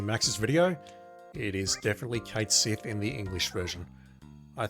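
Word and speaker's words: Cait Sith: the Japanese version but we don't call Cloud Kuro we call him Cloud so so we are going with Kate Sith as pronunciation here is this where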